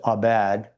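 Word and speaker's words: עבד: It's abad. Abad, actually, is how you pronounce it.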